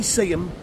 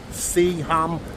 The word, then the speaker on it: Seaham: I'm in my hometown today, Seaham, sunny Seaham by the sea. I think the proper way to say it is Seaham, but us locals just say Seaham.